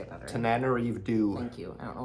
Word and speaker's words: Tananarive: Tananarive.